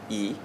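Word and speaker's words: 义: For me personally, I think that the most important virtue or concept within Confucian framework is actually yi. Am I saying it right? Yeah, yi.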